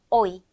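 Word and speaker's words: hoy: 합니다 자이어서 h n 무음이 있어요 그래서 오이 호이가 아니라 오이 이렇게 발음해 주면 되고 우리 피자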